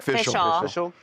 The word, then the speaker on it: Fishel: Baker Sod Danielle Fishell, is that how you say it? Fishial.